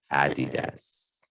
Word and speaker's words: Adidas: Adidas. That's how you pronounce it. Adidas.